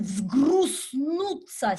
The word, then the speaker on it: взгруснутся: Now there is a strange word with lots of consonants on the end of that line, vzgrusnutsa. See that? Vzgrus. You can smash them together, vzgrus. You can say zgru, zgru, zgru. Okay? Do what you can.